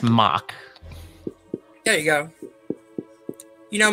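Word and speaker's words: Mauch: That's M-A-U-C-H. I believe it's pronounced mock.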